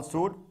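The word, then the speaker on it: should: कैन, कुड, will, वुड, may, might, shell, शुड, ये 4 दूनी 8 हो गया आपका।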